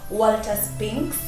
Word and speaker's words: Walter Spinks: He's called Walter Spinks. Is that the right pronunciation, mister? Yeah, you got it right.